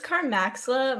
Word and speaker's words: Carmaxlla: By the way, how do you pronounce your name? Carmax? How do you say that? The user, it's Carmaxlla.